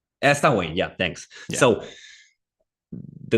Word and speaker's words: Samhain: time where Samhain, I'm not sure how to pronounce it, would take place. Samhain. Samhain, yeah, thanks.